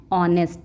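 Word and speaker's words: honest: है, एन लगता है, तो यहाँ पे एच साइलेंट रहता है, इसको क्या पढ़ते हैं, ऑनेस्ट, इसलिए यहाँ पे एन आ जाएगा।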